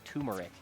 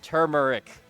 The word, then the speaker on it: turmeric: Also, I hate people that pronounce turmeric as turmeric. It's not a tumor. You don't get a tumor from eating this spice. It's turmeric.